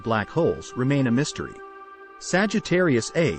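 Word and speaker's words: Sagittarius A*: Sagittarius A is the name of the supermassive black hole in our galaxy, our own Milky Way. Pronounced a star.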